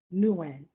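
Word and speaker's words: Nouwen: was the wounded healer by i'm going to pronounce it properly honoree nuan n-o-u-w-e-n because it helped me understand how and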